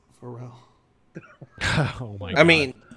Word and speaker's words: Pharrell: It's pronounced for Pharrell. Pharrell? Did you call Wow. him Farrell for the longest time? Yeah, I've been so wrong this entire It's time. black. It's Pharrell.